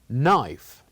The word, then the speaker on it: knife: KN knob and knock here we write the K but we don't pronounce it we only say knife